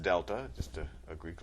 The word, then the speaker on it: delta: That triangle, which is pronounced delta, just a a Greek letter that means change.